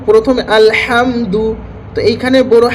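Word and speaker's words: الحمد: যেমন হচ্ছে ছোট হাদি আমরা যদি পড়ি তাহলে সেখানে হচ্ছে আলহামদু মানে হচ্ছে সমস্ত নিকৃষ্ট।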